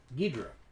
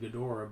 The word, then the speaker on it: Ghidorah: Because the Japanese pronounce it Ghidra. Ghidra. That makes sense. Americans correctly pronounce it Ghidorah, but the Japanese pronounce it Ghidra.